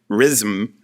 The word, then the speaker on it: Rzym: stops and stays in an inn called, I'm mispronouncing it in Polish, I'm sure, but it's RZYM, Ryzm, which is Rome in Polish.